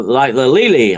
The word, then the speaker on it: Lele: of folklore, like the Lili. I don't know if you've ever heard of the Lili, and that is spelled Lele in Romania.